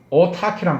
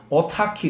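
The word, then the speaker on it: autarky: 철자가 이제 CH가 아니고 K라는 말을 쓰는 거예요. 같이 크랑 발음 똑같은 거예요. 그래서 오타키 이렇게 하면요.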